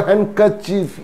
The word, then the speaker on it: handkerchief: very informal term for handkerchief is hanky even hanky so the pronunciation is handkerchief not handkerchief hankerchief handsome handsome it's not